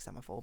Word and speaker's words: semaphore: I'm not sure if it was literally like semaphore, but I'm not even sure.